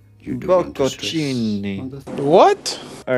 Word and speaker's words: Bocconcini: Buongiorno, we are looking at how to pronounce with a typical Italian pronunciation the name of these small mozzarella cheese balls that are small, just the size of an egg.